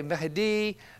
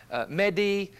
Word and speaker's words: Mahdi: Now, some say Mahdi, Mehdi. I'm going to pronounce it just the way that I pronounce it to make it simple for those who are watching.